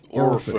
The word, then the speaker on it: Orford: Yeah, Orford just sounds like it needs pronouncing like that. Have you sticked your oar in Orford? Orford. It's like Oxford with an R.